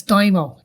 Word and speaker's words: daimyo: It's not Domo, it's Daimo. D-A-I-M-O. Daimo.